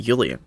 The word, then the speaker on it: Julian: So it would make sense if they pronounced it Julian, because in German, the J is pronounced as a Y.